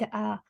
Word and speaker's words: へ: um when you write a letter or email you will put the hair but the pronunciation is a so for example you